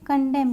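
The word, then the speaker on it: condemn: यहाँ पे कंडेम, यहाँ पे हमारा एन साइलेंट है।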